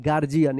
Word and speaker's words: guardian: यहाँ पे डी का जो है ना ज उच्चारण हो रहा है, गार्जियन। यहाँ पे यू जो है ना साइलेंट है, गार्जियन।